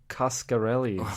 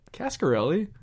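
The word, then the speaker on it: Coscarelli: Uh, Don Kascarelli. Why do you keep saying it weird? How do you say it? Cascarelli, but it's an O.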